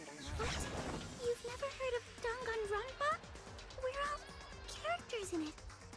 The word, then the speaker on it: Danganronpa: That's not how you say it. You say it like this. You go, Danganronpa.